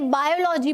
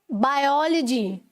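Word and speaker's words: biology: बोल दी, ठीक है, मैंने बायोलॉजी बोल दिया, जबकि होता क्या है, बायोलॉजी, ठीक है। ओ पर स्ट्रेस है, तो तब आपको अपनी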